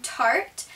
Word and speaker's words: Tarte: that i have is from tarte and i think that's how you say it correct me if i'm wrong but i'm pretty sure it's tart and the thing i